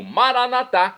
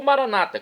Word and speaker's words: Maranata: eterna agora eu clamo maranat como dizemos nós católicos é do dialeto de Jesus o aramaico ou Maranata como dizem nossos irmãos separados os evangélicos ou protestantes não importa pronúncia o significado é o mesmo vinde Senhor Jesus um